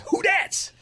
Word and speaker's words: Who Dats: in collinsville on sunday it's spelled who and then d-a-t-s that's who dad's and it's hard to say oh little known fact will be at who that's in yeah yeah it's who that's i don't know why